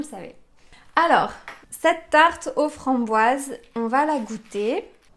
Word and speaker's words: framboise: continue avec boise framboise en français le O et le i quand ils se suivent ça fait le son W W on a donc Fran bois Z à la fin c'est un son Z pourquoi parce que le s est entre deux voyelles le I et le E donc on a framboise et